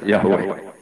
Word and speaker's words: Yahweh: Itu nak tengejaan Latin Y besar A H besar W E H besar Yahweh. Lah Yahweh nak sampai moto ya Allah mbok imalah no iku ya wis nopo?